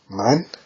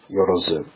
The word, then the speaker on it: 万: It is pronounced man. In the kun reading, I believe is yorozu.